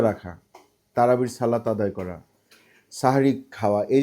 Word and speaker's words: সাহরি: কি মত পার্থক্য আছে অনেকে বলবেন দেখবেন বলবেন সেহেরি খাইছি সেহারি মানে বলতে বলতে এরকম করে কিন্তু উচ্চারণটা হবে হচ্ছে গিয়ে সাহারি শেষ সময় সাহারি